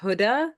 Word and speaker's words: Hoda: Actually, I know you don't know this because the way it's written, but it's pronounced Huda. So like motherhood, and then add the Huda.